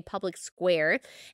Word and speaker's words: Public SQ: It's spelled Public SQ, but you say Public Square, and it will list businesses and services that you're looking for that support the things that you support.